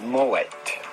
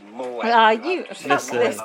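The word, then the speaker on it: Moët: Moet yes it is Moet Mo I don't trust that person that's a French person that the T here is not silent it's not Mo it's actually Moet made an entire video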